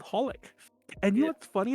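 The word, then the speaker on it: xxxHOLiC: heard that anime xxx holic that's the way i've always oh yes did you know it's pronounced just holic to be honest like honey the i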